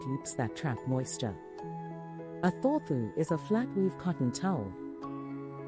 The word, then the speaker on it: Thorthu: It's called a Thorfu, pronounced Thorfu.